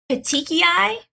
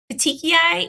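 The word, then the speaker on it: petechiae: can pronounce it right it's petechiai the tiki eye it's a red purplish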